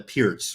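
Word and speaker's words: Pirc: a YouTube video called can't he works the perk I mean I've never had a problem with the perfect event or in fact it's called a pierce right for the people that are like sticklers oh it's pronounced Pierce but in fact it definitely looks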